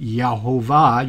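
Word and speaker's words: Jehovah: Some people pronounce it Yehovah.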